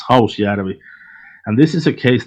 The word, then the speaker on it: Hausjärvi: So the next one is, please correct me if I'm wrong, Hausjärvi gravel pit murders.